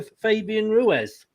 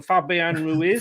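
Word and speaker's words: Fabián Ruiz: You actually then came up and picked somebody, and you've gone for Fabian Ruiz. Yeah, I pronounced that totally wrong. Fabian Ruiz.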